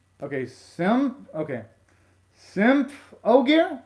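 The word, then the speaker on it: Symphogear: gonna be hard to change it and to pronounce okay sim okay simp oh gear like that symptom gear did i pronounce it right simple gear did i pronounce it right that time okay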